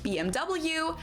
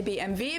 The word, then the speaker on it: BMW: In English, people say BMW. In German we say BMV because W is pronounced V in German and it stands for Mulvin which means Bavarian Engine works.